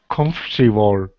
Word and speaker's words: comfortable: Comfortable. Yeah, so it looks like comfortable, but it is pronounced comfortable.